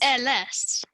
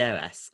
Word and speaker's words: heiress: Heiress? Oh, I thought it was airless when I saw it. How do you say it? It's the heir, so it's the heiress.